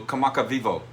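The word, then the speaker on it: Kamakawiwoʻole: Um, so the W's are pronounced V in Hawaii. In Hawaiian also, Hawaiian uh language only has 12 or 14 letters. I don't know if you knew that. I didn't know that till be till just before I went. So, kamaka vivo, that's the pronunciation.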